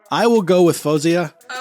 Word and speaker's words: Faouzia: don't know whenever I would hear people say Louisiana or they'd be like Fusia it was like not quite the right way to say it and it like bugged me and I don't know why they'd be like oh how do you actually say it and I'd be like fousey and then they would